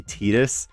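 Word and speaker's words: Tidus: I'm going to say Titus. I know that the actual pronunciation is supposed to be Tetus.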